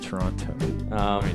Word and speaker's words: Toronto: Yeah, Brendan actually pronounces the T in the end of Toronto.